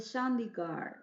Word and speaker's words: Chandigarh: Pero ellos hicieron un diseño, el famoso diseño de la ciudad de Chandigarh, así lo dicen los ingleses, pronuncian todo con la R y la D.